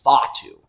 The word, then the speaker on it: Fatu: damn well I want apparently it's Fatu that's how you pronounce it but you know what